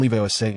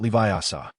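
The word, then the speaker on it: Leviosa: The emphasis is on Leviose, not Leviasa.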